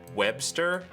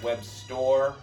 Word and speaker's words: Webstor: I think it's supposed to be pronounced Webstore, dude.